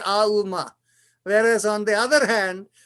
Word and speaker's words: Om: It in many places, Om is spelled as A-U-M. Aum. They say those three sounds are important in Om rather than just saying the O.